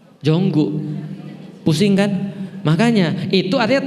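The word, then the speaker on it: Jungkook: contoh jungko BTS itu kan tulisannya jungkok Bacanya apa bukan jungkok jonggu pusing kan Makanya itu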